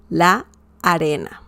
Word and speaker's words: la arena: la arena, but yeah, it might sound like one word, but they're actually two. La arena, okay? Or if you say it quickly, la arena, la arena. You pronounce like a very long A, la arena, okay?